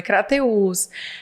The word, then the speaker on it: Crateús: Tem um acento agudo no U, é Crateus.